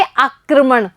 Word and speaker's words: आक्रमण: जैसे क पर लगा हुआ है पदेन रे, तो क के बाद में हम रे का उच्चारण करेंगे और क्या बोलेंगे? आक्रमण।